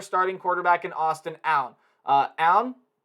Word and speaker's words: Aune: Aune, I believe is how you say that last name, only had 1,991 yards, 9 touchdowns, 9 picks last year.